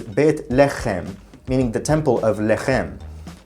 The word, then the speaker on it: Beit Lechem: That's because the original pronunciation of the name was Beit Lechem, meaning the temple of Lechem.